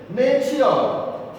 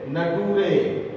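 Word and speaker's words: nature: तो टी के आगे अगर यू आर ई आता है तो टी का प्रोनाउंसिएशन शर होता है. जिसको नहीं जानकारी है वो ऐसे पढ़ते हैं, नटूरे, फटूरे, मटूरे, कल्टूरे. तो गलत हो जाता है और उसका बैड इंप्रेशन आपके ऊपर पड़ता है.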